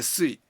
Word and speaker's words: suis: Je suis. Je suis. Je Alors, je suis. suis. Non, c'est un S. The S is silent.